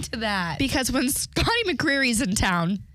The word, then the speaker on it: McCreery: Anyone familiar with Scotty Creary out there? Scotty McCreery? Oops, I said his name wrong.